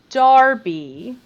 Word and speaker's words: Derby: y okay okay but if you live in the midlands you would pronounce this darby but i refuse because i'm american and there's an e in it so i call it derby and people yell at